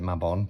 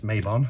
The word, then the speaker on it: Mabon: bond however it's pronounced i pronounce it my bond but i have been corrected it's mabon but you know potato